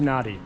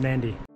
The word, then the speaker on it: Nadi: from Sydney through to Nardi which I've just found out is pronounced Nandi the journey begins by